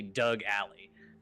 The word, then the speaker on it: Alley: achatas and Doug alley Ally is not spelled like your your fiance's name a-l-l-e-y but his name is definitely Doug Ally which I find extremely